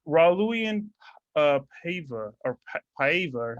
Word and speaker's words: Paiva: It's Raulian Paiva or Paiva, or how do you say his last name? Yeah, that's why I wasn't sure if it's Pava or Paiva. Paiva, yeah, it's Raul.